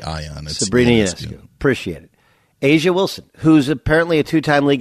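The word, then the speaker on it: A'ja Wilson: Wilson how do you how do you I don't know it's Asia Wilson Asia Wilson I'm Sor as Sabrina yancu you don't even have to say ey on Sabrina appreciate it Asia Wilson who's apparently a two-time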